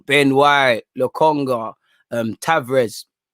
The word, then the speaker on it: Tavares: white le conga um tavrez tavern sorry you know people are saying the r is silent um it seemed it